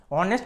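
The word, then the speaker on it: honest: তো দেখো এখানে যে অনেস্ট কথাটা আছে, অনেস্ট কথাটা প্রথম অক্ষরটা আমরা সকলেই জানি এটা কনসোনেন্ট বা ব্যঞ্জনবর্ণ হচ্ছে, কারণ এইচ আছে, এই আই ও ইউ এগুলো নয়।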